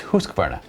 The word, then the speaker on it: Husqvarna: No, it's Husqvarna. And you know how I know that? Because you and I went to Husqvarna and asked them, how do you pronounce Husqvarna? And that's what they told us.